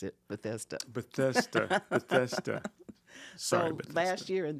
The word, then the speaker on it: Bethesda: Maryland right uhhuh it's Bethesda that's how you pronounce it Bethesda bethesa bethesa last year and this year the